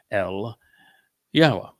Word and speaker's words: Yahowah: He used words on behalf of and with his relationship to Yahowah.